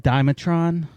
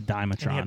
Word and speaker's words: Dimetrodon: his back i like the dimetron that's not how you say it but that's not what you're done yeah the the one with the big fin but it was uh i always called it the dimetrodon the thumb those little